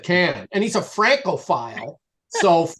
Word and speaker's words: Cannes: And, he corrected my pronunciation of the Cannes Film Festival. I think I was trying to say Cannes, and he said Cannes, and he's a Francophile.